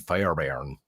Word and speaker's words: Fairbairn: By Kaimi Fairbairn. Yeah. You have to almost be Scottish to say his name.